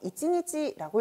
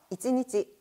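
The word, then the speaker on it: 一日: 자, 일단 원데이, 하루를 나타낼 때는 이찌에 니찌를 붙여서 이찌니찌라고 읽어주시면 되겠습니다. 자, 읽어볼까요? 이찌니찌, 이찌니찌.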